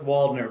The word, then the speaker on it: Waldner: We don't go that German. We just go with Waldner.